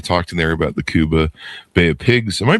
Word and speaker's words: Cuba: They they talked in there about the Kuba Bay of Pigs. Am I pronouncing Kuba right?